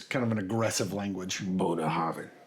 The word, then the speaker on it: Bunnahabhain: So this is Bunnahabhain. You almost gotta say it like throaty. Yeah, get it back there. I mean most Gaelic is kind of an aggressive language. Bunnahabhain. Bunnahabhain, 18.